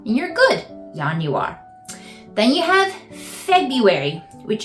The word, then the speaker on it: Januar: you would in German because in German the J makes a y sound so Yan you are and you're good Yan you are then you have February